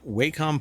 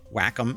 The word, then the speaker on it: Wacom: Um but uh it says here Waycom partners with Blender to enhance pen and touch tools for 3D creation across platforms. Whackom is what it's actually pronounced.